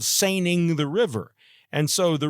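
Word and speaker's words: Seine: trotlining the James River so uh that's called Sing the river and so the river San that's what it looks like but actually in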